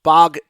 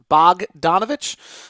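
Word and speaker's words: Bogdanović: far someone's telling me I'm pronouncing bog its bouillon Bogdanovich is the better way to pronounce it okay or the correct way to pronounce it Bogdanovich I'll see what see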